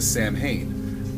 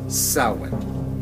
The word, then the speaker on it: Samhain: when you read it looks like it's a Sam Hayne but you're not thinking of the Irish pronunciation Gaelic which is sin it's the way the Gaelic say things I